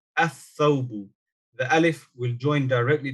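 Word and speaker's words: الثَّوْبُ: So this lam here is not pronounced. You will say athawbu, athawbu.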